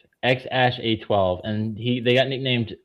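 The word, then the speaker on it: X Æ A-12: The goal here, it's pronounced X A12. X Ash A12.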